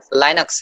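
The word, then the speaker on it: Linux: अ लाइनक्स, ठीक है, हम उसको लिनक्स बोलते हैं, एक्चुअली वो लिनक्स नहीं है, लाइनक्स है, LI। लीनियर को हम कैसे पढ़ते? लीनियर पढ़ते क्या? लीनियर, LI का उसमें प्रोनाउंसिएशन आता है, तो यहाँ पे भी लाइनक्स।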